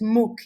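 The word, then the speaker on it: MOOC: first of all uh m o you just pronounce it Muk it means massive online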